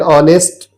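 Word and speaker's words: honest: इसके अलावा एन ऑनेस्ट भी होता है। तो यहां भी एच है पर इसमें एन लग रहा है क्योंकि यहां पे भी एच साइलेंट है।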